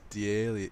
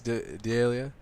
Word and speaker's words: D'Elia: Yeah, so we got Chris D'Elia. Chris D'Elia? That's how you pronounce it, right?